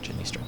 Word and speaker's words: Janistra: of the is it how do you say her name? Janistra? Janistra.